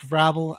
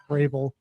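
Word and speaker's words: Vrabel: Uh Mike Rabble, as Tiffany Hadtish called him, his name is actually pronounced Rael.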